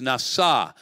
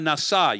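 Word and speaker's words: נשא: The Hebrew word is nasa. It rhymes in Hebrew. It doesn't work in English, but pesha nasa. You hear it?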